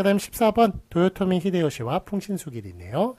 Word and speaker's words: 도요토미 히데요시: 그래서 우리식대로 읽으면 풍신수길 이렇게 읽습니다만, 일본 사람들은 일본식 발음대로 그렇게 쓰는 것을 표기에 외래 표기에 맞게 하였습니다. 그래서 도요토미 히데요시 풍신수길은 틀립니다. 도요토미 히데요시만 맞고, 이토 히로부미만 맞지.